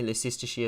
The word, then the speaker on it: Leicestershire: Apparently Leicestershire is pronounced Leicestershire.